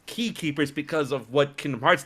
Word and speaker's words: X-Keepers: guy i'm like dude x keepers but it's pronounced key keepers and then that and he's like dude that's